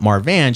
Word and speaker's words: Marvan: so Marvan is spelled Marvan, correct. and Marvin is the VIN, right, yeah. right. So if I just actually think of the way it's spelled, Marvan should come across.